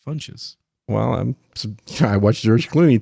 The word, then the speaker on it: Funches: No, I think it's pronounced Fox. It's Funches. You're both wrong. It's Funches.